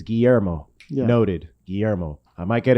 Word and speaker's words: Guillermo: yeah mr starquist yeah and he said my name wrong at first on the first day and i was like oh it's it's guillermo noted guillermo i might get it wrong correct